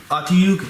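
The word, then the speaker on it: Otyugh: Second edition Monstrous Manual says Otyug. I've always pronounced it Otyug, but second manual says Otyug. I know it's Otyug because of how it was pronounced by the professionals.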